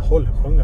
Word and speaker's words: Holsljunga: Want to say Holsljunga but you have to say.. How do you say it Johan? Holslunga. I have to say with a bit of dialect too.